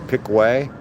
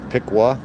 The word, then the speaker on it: Piqua: Some people pronounce it Picway, but it's Pikua, Ohio.